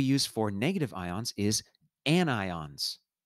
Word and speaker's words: anion: for negative ions is anions not anions even though it kind of looks like onions it's pronounced anion as in i've got an ion u and it's the